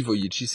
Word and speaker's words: Vujicic: Alors Vujicic ça s'écrit VU, ça s'écrit Vujicic mais ça se dit Vujicic et ça s'écrit Vujicic.